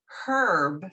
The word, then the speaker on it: herb: you to know that i'm going to pronounce it herb for my english friends because i guess he'd